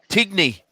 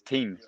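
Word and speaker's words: Tignes: I always thought it was it's good. pronounced Tigny. Yeah, Tignis. Yeah, that's right. Tignis, but apparently it's teen, like a tin, like an Australian saying tin.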